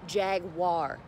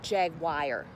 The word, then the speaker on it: Jaguar: in the bud zone it's pronounced Jaguar not jagwire gags are back who